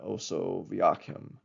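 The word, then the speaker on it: Osoaviakhim: Um the Soviets also um had a similar program called Operation Oso Vakim. That's uh in the English Latin alphabet. It's spelled um O S O A V I A K H I M.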